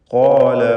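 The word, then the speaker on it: قال: ഖാല റബ്ബി, ഖാഫിനും അലിഫിനും തഫ്ഖീം കൊടുക്കണം. പലതവണ ആവർത്തിച്ച പദമാണ്. ഖാല എന്ന് തടിപ്പിച്ച് സ്വരഭാരത്തോടെ ഉച്ചരിക്കുക. റബ്ബി ഈ പദത്തിൽ റാഇനും തഫ്ഖീമാണ്.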